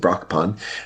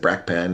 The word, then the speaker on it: Brakpan: speak for cons and how they pronounce Brockpan because that's how I pronounce it. Brock pun. Uh, but someone said brack pan and we who speak up for cons. It was kind of weird.